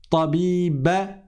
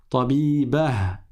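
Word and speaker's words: طبيبة: Tu ne dis pas mumarridah tabiba, mais tu prononces le ha à la fin qui remplace le ta marbota. Tabibah mumarridah.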